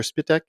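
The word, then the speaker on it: Spytek: Is it Spyitech or Spitech? John Spych. Spitech. Okay. It is it is it is spelled uh or or it is is pronounced how it's spelled exactly.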